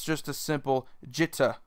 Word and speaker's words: Jitte: reality it's just a jitter there is like a slight pause in between the word there is emphasis on the e but it's not as much as most English speakers would put